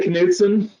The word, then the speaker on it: Knudson: Knudson. is that correct? Knudson? I like to say Knudson. You know, Knudson? That's a K, hard K.